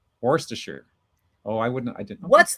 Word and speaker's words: Worcestershire: Worcestershire, isn't it? Yes. I think like normally I would say Worcestershire, but I'm pretty sure they like to run it together like Worcestershire. Worcestershire.